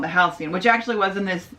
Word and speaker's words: Halcyon: housing which i had no idea how to pronounce until they were talking about it but the halcyon so it sounds like you're going to board the halcyon and then you're going